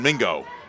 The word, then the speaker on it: Mingo: You got Roman Mingo. Rhymes with bingo and lingo.